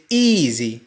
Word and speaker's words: easy: وكذلك يمكنك القول بالإضافة إلى اطمئنانه بشكل جيد تقول له take it easy. take it easy. لاحظ اس تنطق زد.